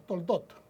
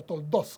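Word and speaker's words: תולדות: estas son las generaciones, estas son los Toldot, o Toldos, como lo pronuncian los hermanos hebreos, de Isaac.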